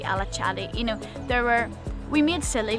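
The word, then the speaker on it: Alaçatı: At least in Turkey, like we would say sesame, but it would actually be chesme, or alakati, but it would be alachadi.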